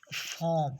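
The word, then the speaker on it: form: बाद आता है जैसे एफ ओ आर एम फॉम तो यह अपनी आवाज को साइलेंट कर देता है जैसे इसके इसके बाद प्रोड्यूस नहीं हो रही फॉम इसी तरह वम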